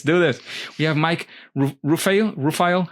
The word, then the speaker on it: Rufail: We have Mike Rufail. How do I pronounce that? It's actually Rufail, but we always just say Rufail to keep it simple.